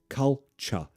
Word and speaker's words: culture: Pronunciation, culture. Culture. It's a schwa sound.